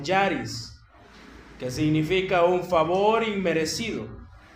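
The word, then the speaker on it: χάρις: La base teológica para vivir en santidad es la gracia de Dios, que en griego se pronunciaría como charis, que significa un favor inmerecido, un regalo de Dios gratuito, inmerecido.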